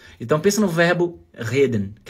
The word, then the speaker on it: reden: O grande problema é que quando essa letra R tá no começo da palavra, muito brasileiro pronuncia errado. Acaba pronunciando o R como se fosse o H em alemão.